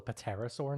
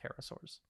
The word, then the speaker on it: pterosaurs: all it's called a paterasore now um is it that sounds incorrect but we will get to that we don't pronounce the p no that's just a